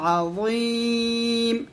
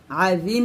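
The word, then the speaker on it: عظيم: ওয়াকানু ইউসিরুনা আলাল হিনসিল, হিন গুণনা হবে, ইকফা গুণনা, আলাল হিনসিল আযীম, আজিম বলবেন না, আজিম বললে এটা জাল উচ্চারণ হয়ে যাবে, এটা য মোটা করে বলতে হবে একসাথে।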